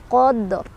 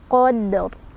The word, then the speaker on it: Qadr: Qadr, ro-nya tebal.